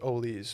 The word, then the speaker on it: Oles: It's pronounced Oles, which is even worse.